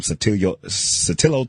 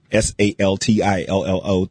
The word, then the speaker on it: Saltillo: I've also seen some Satillo tile. I always have a problem pronouncing that tile, but it's kind of the tile you see in the Mexican restaurants. It's SALTILLO tile.